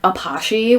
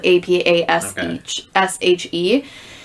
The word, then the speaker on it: Apashe: We specifically went for this like really unique EDM artist called Apache. We would always mispronounce it and say Apache because that's how it's spelled. Apashe.